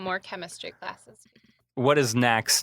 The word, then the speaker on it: Knack: Like, how do you not know? You should say Knack.